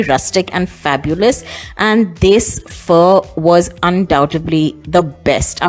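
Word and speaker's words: phở: Of course, it's spelled 410, but it is pronounced fur.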